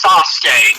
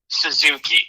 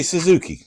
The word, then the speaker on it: Sasuke: It's Sasuke, not Suzuki. Yeah, but we Americans say Suzuki, you know. Okay. Well, some of us that are more familiar with the Japanese language know how to actually say it.